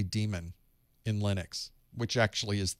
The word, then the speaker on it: daemon: have people that say damon because it's spelled that way but that actually is what we ended up calling it because it was spelled that way even though it's pronounced demon so it's okay to